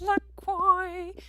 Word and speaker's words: LaCroix: It's called LaCroix. It rhymes with enjoy.